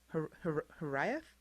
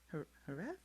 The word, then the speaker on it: Hiraeth: And you've got the missing pieces, aka, you can't see it there, but the word is, I'm not sure how to pronounce it, Hiraeth? Hiraeth?